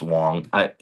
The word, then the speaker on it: Wang: And then Judge Nita Wang, or Joe says it's pronounced Wong.